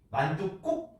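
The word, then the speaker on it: 만둣국: 이때 발음할 때 어떻게 합니까? 전세집 만두국 하는 거죠.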